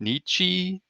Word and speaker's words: Nietzsche: It might have been, I forget how to pronounce his name, Nietzsche, that says Nietzsche, like Friedrich Nietzsche.